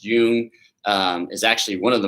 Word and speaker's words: Jung: Carl Jung, is pronounced Jung, is actually one of the most written and published authors in all of psychology.